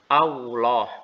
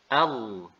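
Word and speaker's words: الله: perlu diingat di sini bahwa penyebutan huruf lam tebal itu tidak melibatkan bibir ya Jadi bukan au Allah bukan Allah Tetapi Allah Allah Allah Nah sekarang kita berpindah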